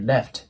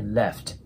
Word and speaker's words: left: I left ですねこのレフトの F の部分っていうのはえ下唇の粘膜ありを上の歯で押えて空気をちょっと出しながら発音するイメージです I left でね